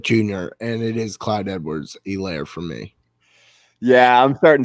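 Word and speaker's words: Edwards-Helaire: laughing at me it's just funny watching you pronounce that one it is what junior and it is clyde edwards elaire for me yeah i'm starting ceh even though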